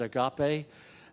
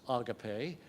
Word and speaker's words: agape: heard so many times, sometimes pronounced agape and sometimes agape, depending upon where you put the accent.